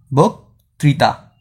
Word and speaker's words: বক্তৃতা: বক্তৃতার উচ্চারণটা কি হবে? বৌকার বউ, তারপর ক, এটা নিচে আমি র্যাপ দিব, এরপর কি ত্রিতা, তো আমি ত লিখছি, এরপর রিকার ত্রি, তারপর কি হয়েছে? তা, বক ত্রিতা।